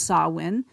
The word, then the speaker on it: Samhain: ancient Celtic celebration of sawin of course it's spelled s m h a i n pronounced sawin um and it was